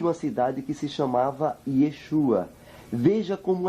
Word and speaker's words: Yeshua: Agora, vocês estão vendo aqui, prezados, que a pronúncia correta do nome de Jesus, ou seja, do nome de Yeshua para o grego é Yeshua.